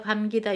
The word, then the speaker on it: 감기다: 자, 감다, 감기다, 요거 끼 아니에요.